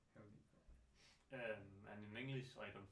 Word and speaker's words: Hal9K: So in Danish we say Hal9K. Hal9K. And in English I don't think we have a pronunciation, but Hal9K is fine.